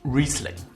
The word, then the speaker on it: Riesling: out of the way it is pronounced recently think of Reese Witherspoon rather than egg fried rice recently the amazing thing